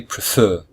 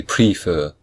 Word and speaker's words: prefer: W X or Y there are two syllables and the second syllable is stressed so we say prefer we don't say prefer we say prefer so that means we